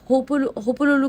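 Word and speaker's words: Ho'oponopono: एक प्रेयर होती है हवाइन प्रेयर, उसकी प्रोनाउंसिएशन होपुलुलु करके ऐसे होती है, और वो बहुत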